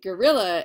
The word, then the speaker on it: guerrilla: And if you don't know what guerrilla warfare is, I'm not saying guerrilla like Gorlla, like the, you know, like the ape. I'm saying guerrilla as in like the way that the Spanish word for war is spelled.